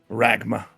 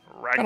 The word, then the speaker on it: Ragma: what's this character's name ragma ragma like magma nice okay I like